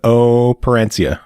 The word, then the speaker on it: Operencia: And yet somehow with Operencia, I will never pronounce it properly. Sorry. It's just a long O sound. Operencia. I know it, but I keep wanting to pronounce it like opera.